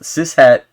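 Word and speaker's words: cishet: adjective and a noun it's pronounced siset and am I really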